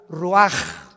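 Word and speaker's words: רוּחַ: exhaló Isaac el Roach así como suena se pronuncia la c en hebreo como J ruaj se le só y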